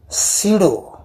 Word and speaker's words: pseudo: जरी spelling PSEUDO असं असलं तर याचा उच्चार करताना सिडो फोर्स असं करायचं, सिडो फोर्स.